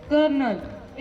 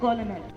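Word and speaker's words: colonel: does not have zero today's pronunciation of the word is कर्नल it's written as सी ओ एल ओ एन ई एल बट इट is pronounced as के ई आर एन ई L because the एल is silent it is pronounced as कर्नल instead of कोलनल importance of today is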